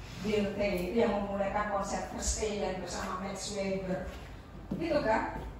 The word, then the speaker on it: Verstehen: Bacanya apa? Verstehen ya.